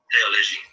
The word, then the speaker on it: théologie: So in other words, the TH in French is pronounced t hard. So how would you say theology in French? TH is pronounced t hard. How would you say theology? Théologie.